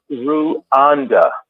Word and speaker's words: Rwanda: the time um and it was pronounced ruanda not Rwanda ruanda so that